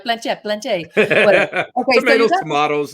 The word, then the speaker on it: planchette: like this with this planchette, right? Is that how you say it? Planchette. Planchetta. I was taught by an English woman, and that's. Well, you guys, it is a French word, so I'm going to give it to him.